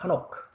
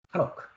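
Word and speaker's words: חֲנוֹךְ: 히브리 발음으로는 이걸 하노크라고 합니다. 하노크. 하노크.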